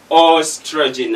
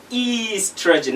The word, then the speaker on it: oestrogen: n so we say most of my students will say oestrogen and of course it is easy trajan another one is an